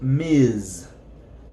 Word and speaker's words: Ms.: So this is pronounced Ms. Ms.